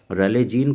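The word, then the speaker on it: Rayleigh: रेलेजीन को हम लोग रैले पढ़ते हैं, इसका जो सही प्रोनाउंसिएशन है वो रैले है।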